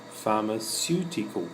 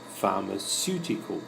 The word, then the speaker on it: pharmaceutical: The PH has an F sound in this word. The C has a S sound because CECI-CY means it's pronounced S. Pharmaceutical company. And the heavy sound is here. Pharmaceutical company.